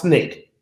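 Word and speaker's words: SNCC: it the student nonviolent coordinating committee pronounced snake in addition to becoming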